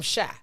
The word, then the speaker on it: Chi: And you got to say it like you from Shy. Mm-hmm. Black Ass Shy. Not shy, Shy.